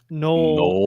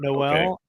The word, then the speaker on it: Null: And then and then we I guess Jaylen Null is null, not Noel.